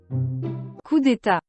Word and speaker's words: coup d'état: Bolivia, also known as, how am I supposed to pronounce that? Coup d'etat, state hit, something? Coup d'état. Oh, okay, so this is how you pronounce it.